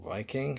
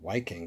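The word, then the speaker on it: Wiking: there it is little Viking from Germany I always used to call them waiking because it's spelled with a W it's a little work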